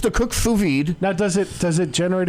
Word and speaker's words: sous vide: Could you do me a favor and spell that honestly, sous vide? Sous vide, SOUS space VIDE. It's a French term, not an American word.